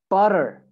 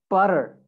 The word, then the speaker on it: butter: Because in American accent, when we have two T's, okay, together, like here, two T's. So you would replace that with a sound that it's almost like a D sound.